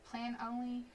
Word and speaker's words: Planoly: Plan only? I can't say it, y'all. So it's PLANOLY, Plan Only.